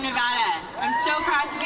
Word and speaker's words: Nevada: Yeah, you'll notice I said it right. That's because I'm proud to be from Nevada.